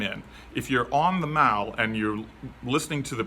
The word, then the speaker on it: Mall: is called The Mao it looks like mall m-a-l-l but it's pronounced Mal and there's Cavalry there's